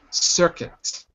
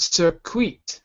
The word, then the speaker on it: circuit: Circuit. So it's not circuit, but circuit. Okay.